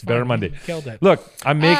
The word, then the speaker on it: barramundi: It's barramundi.